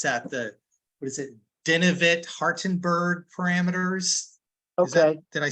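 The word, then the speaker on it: Denavit-Hartenberg: Yeah, those are I can never pronounce that. What is it? Denivit Hartenberg parameters.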